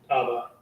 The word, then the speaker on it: Abba: Abba. Right. What is that in Hebrew? The ah and the ba, right? The ah and the ba, right?